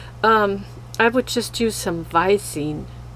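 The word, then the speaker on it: Visine: would just use some Vicine. And in German you would pronounce the V also different. You would say Vicine.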